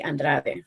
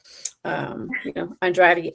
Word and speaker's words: Andrade: So whenever people can't pronounce my last name, I do mention Mario Andretti, right? Similar to that. But I try to make them say Andrade, but Andrade is the closest thing to it.